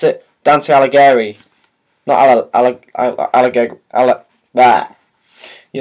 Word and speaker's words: Alighieri: of dante himself oh gary that's how you pronounce it dante alleghery no i'll i that you know what i